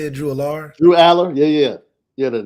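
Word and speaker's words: Drew Allar: But I do like Drew Aller. That's how you say it, Drew Aller?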